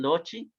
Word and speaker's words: loci: O quizá en algún manual van a escuchar los loci, por eso se pronuncia loci en latín, loci, son estos lugares teológicos.